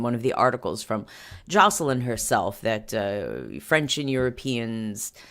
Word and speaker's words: Jocelyne: So sometimes her name is pronounced Jocelyne, sometimes it's Jocelyne. I am going to go with Jocelyne because it's how most of the media reports tend to pronounce her name in the sort of English style.